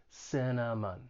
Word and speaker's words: cinnamon: be a little challenging it has three syllables the stress is on the first syllable the second and third syllable have that schwa sound it's an unstressed vowel sound just sounds like a cinnamon cinnamon and then to well